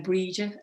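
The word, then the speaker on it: Brighid: came back to ireland and then breed it and below that region the gh is silent brigitte and berget because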